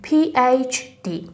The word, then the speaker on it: PhD: و دکترا هم که همون PhD که میگیم مثلا طرف PhD داره، یا PhD که تلفظ درست H رو H باید بگیم PhD.